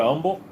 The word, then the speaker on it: Humble: In Texas, the H is silent in Humble. Just to help you. So, when I go there, I got to go to umble.